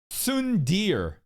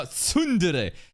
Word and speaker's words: tsundere: Sundir. Sundir, bro. No, tsundere.